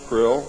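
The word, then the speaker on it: Krlll: name and title was his omn highness Krill pronounced Krill spelled KR l l l or c r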